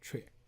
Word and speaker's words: 阙: So the right hand side, that's pronounced as 阙.